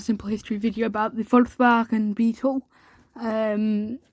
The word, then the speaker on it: Volkswagen: Volkswagen is how it's actually pronounced.